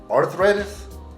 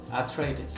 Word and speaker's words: Atreides: Arthritis. Atreides.